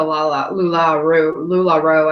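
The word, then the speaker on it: LuLaRoe: It's kind of like like something, one of those things that you'd wear with leggings, or it's just like the Lula Roe.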